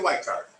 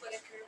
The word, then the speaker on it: Whitaker: Whitecard. It's Whitaker, but I'm.